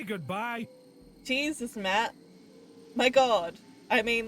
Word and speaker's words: Matt: not an inch less the name's Matt the second T is silent really sure sounds like